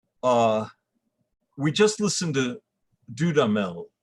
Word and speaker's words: Dudamel: we just listened to dudamel i believe is how he pronounces his name uh conduct it and